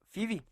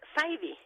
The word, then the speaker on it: Fyvie: Doctora Fibi, habíamos platicado en la entrega anterior cómo se pronunciaba su apellido, Fibi. No, es Faidy.